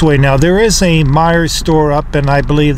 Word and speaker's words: Meijer: now this is the Meijer store I pronounced it my Jers for years when I used to